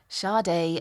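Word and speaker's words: Sade: charts around the world even if nobody knew how to say it shardai were heading for the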